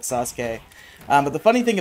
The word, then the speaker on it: Sasuke: to play as but i did not know how to pronounce his name i called him sazuk and i remember my cousin corrected me one day and i